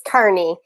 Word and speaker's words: Kearney: totally okay with that it's kearney so like carney lake road in halifax yes that helps me because i always say kearney yeah that's my go-to